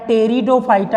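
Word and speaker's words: Pteridophyta: तीसरे को रखा गया टेरिडोफाइटा इसमें साइलेंट होता है तेरी दो फाइव स्टार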